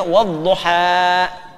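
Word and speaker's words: والضحى: Jelas sama dengan dammah ya ketemu wau u panjang sama dengan kasrah ketemu ya i tapi alif tidak menerima apa harakat karena itu dibacanya wadduha paham baik aslinya ada kasrahnya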